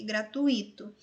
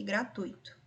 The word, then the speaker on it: gratuito: Muitas pessoas tendem a pronunciá-las acentuando um possível hiato, fluido e gratuito. Mas na escrita formal é preciso perceber que esse hiato não existe, é fluido e gratuito.